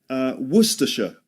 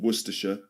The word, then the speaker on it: Worcestershire: A sauce that comes from a place in England called Worcestershire. Worcestershire sauce. Worcestershire. So Worcestershire, remember, only 3 syllables.